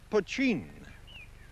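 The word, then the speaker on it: poitín: for the stuff that spelled potin and pronounced poin illicitly distilled whiskey do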